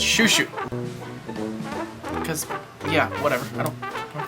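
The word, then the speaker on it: Chuchu: Cho-Cho, oh my god, it's pronounced Shushu. So, we're gonna start things off with a Things I Learned segment. First thing I learned, Cho-Cho, C-H-U-C-H-U, is pronounced Shushu.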